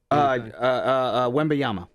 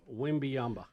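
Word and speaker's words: Wembanyama: Wembayama. Wembyamba.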